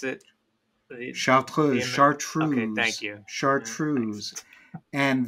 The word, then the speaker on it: Chartreuse: half an ounce of, believe it or not, chartreuse. Can you pronounce it? Chartreuse.